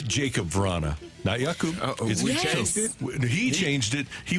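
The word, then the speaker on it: Jakub: listening to Blues hockey it's Jacob if you tell us it was yakoo things change okay yeah so it is Jacob it's Jacob so no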